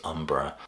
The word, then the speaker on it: Umbra: the next one is Umbra uh looks like V but I have it on good authority it's pronounced Umbra a prog metal band